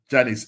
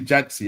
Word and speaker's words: Jancie: From All Purpose Janice. It's actually Jancie. Her actual name is pronounced Jancie.